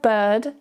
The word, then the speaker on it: bird: Here, the vowel sound is very weak and very relaxed.